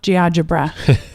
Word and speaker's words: GeoGebra: It's like algebra, but GeoGebra? GeoGebra. There we that's go. It. That sounds right.